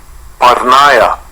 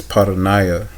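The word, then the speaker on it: porneia: Parnaya. Parnaya. I pronounced that wrong. Sorry about that. It's paranaya. Paranaya.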